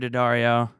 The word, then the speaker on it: Daddario: Morgan Nalley and Alexandra Daddario. Daddario. How's it go? it's actually pronounced both ways. Really? Okay, good. It's okay. It's nice. That was like the one thing today. I was like, Daddario.